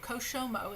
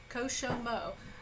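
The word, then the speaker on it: כשמעו: Koshomo. It's 3 syllables. Koshomo.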